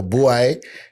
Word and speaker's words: Bwoy: Yeah, boy.